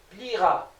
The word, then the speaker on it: plieras: Pour le verbe plier qui se termine avec IER, vous allez voir tu plieras. Le E ne se prononce pas.